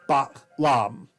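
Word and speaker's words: b'alam: Hence, the Maya word for jaguar is lam, because it's supposed to have ba and then a glottal stop, and then lam, ba, lam, all right?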